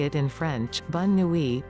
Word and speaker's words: bonne nuit: Think how much more sophisticated and worldly you'll sound if instead you say it in French, bonne nuit, pronounced bonne nwee, Italian, buonanotte, b-won-on-note-teh, or Chinese, wanan, wa-an.